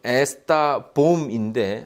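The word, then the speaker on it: está bom: 이게 이제 포르투갈어로는 에스타 봄인데 앞에 이 S가 묵음이 돼서 타봉이에요.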